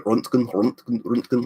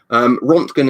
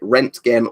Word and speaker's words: Röntgen: Apparently I think the Germans pronounce it so like the proper pronunciation is probably Röntgen. Like Röntgen, like that. Rontgen is how we normally say it in the UK correctly.